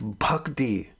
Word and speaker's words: bhakti: you ah yeah bhakti bhakti spelled with an h after the b it's bhakti you want to say it with proper pronunciation bhakti clarity knowledge of pokemon